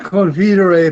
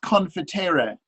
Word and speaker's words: confitere: meo Domine Jesu, et confidere peccata tua, et baptizare in nomine Patris, et Filii, et Spiritus Sancti." And the saint said, but it's confitere. Right, it's a long E on confiteor.